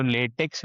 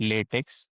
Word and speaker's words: LaTeX: सो जो क्वेश्चन उन्होंने पूछा था कि which is the right one, या फिर जो लेटेक्स है, basically it's नॉट लेटेक्स, इट is pronounce as लेटेक.